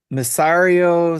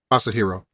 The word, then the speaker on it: Masahiro: I apologize to any Russians listening to this if I butchered that name. Hoots says Masario Sakurai? Masahiro.